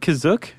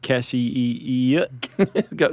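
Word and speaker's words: Kashyyyk: Planet C is that how you say it kazook that's how it's pronounced in the episode the holiday special but it's also pronounced different ways other times I would have pronounced it Cas go spell it k a h y y YK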